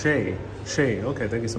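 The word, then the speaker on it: chez: Miss Lob says Ches is pronounced Shay.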